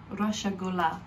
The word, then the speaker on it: রসগোল্লা: Roshogola. রসগোল্লা। Roshogola. In the la put la. রসগোল্লা। Roshogola.